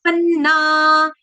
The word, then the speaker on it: पन्ना: आसुरी री के बाद चंद्रबिंदु य आसुरी यो मा पन्ना पन्ना जैसे अन्न में डबल न ऐसे पन्ना आसुरी यो मा पन्ना